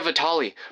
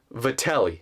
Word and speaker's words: Vatelli: First of all, that is not how you pronounce my last name. To everyone who doesn't know, it's Vatelli.